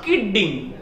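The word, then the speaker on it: kidding: নো কিডিং, বলছে নট কিডিং একটা ডি উচ্চারণ হবে। আমি এর আগেও বলেছিলাম যে যখন ইংরেজি কোন ওয়ার্ডে ডাবল কনসোনেন্ট থাকে, একই কনসোনেন্ট দুইবার থাকে, দুটি মিলে একটি উচ্চারণ করতে হয়।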